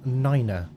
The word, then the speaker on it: nine: pronounced as fife and nine is pronounced as niner it's so that they